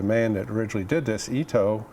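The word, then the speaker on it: Itoh: that originally did this Ito is how he pronounce that name and there's several oh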